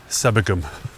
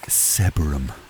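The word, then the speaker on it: Sebergham: bit old now approaching a little village called sebum it's probably not it's probably not pronounced seab seab I can't say it sebum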